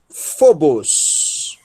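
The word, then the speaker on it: φόβος: Fi, ômicron, e o acento, né, sílaba tônica, fo. Um beta, um ômicron, sigma, bos, phobos. Phobos.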